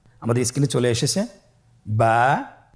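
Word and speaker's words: با: আমাদের স্ক্রিনে চলে এসেছে বা বা হরফটি কিভাবে উচ্চারণ করবেন? বা হরফে টান হবে। এক আলিফ টান।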